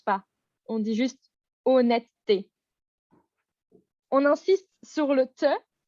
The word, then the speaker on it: honnêteté: net t'es ok on enlève le haut on prononce pas on dit juste honnêteté on insiste sur le tas parce que normalement